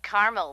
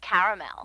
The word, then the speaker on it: caramel: what I said Tina actually you said Carmel when it's pronounced caramel can't we just call